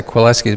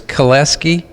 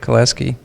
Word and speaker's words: Kwilecki: yeah sure you know III always say quill s keys but it's cholesky use pronounce the w cholesky guys are y'all house another there yeah yeah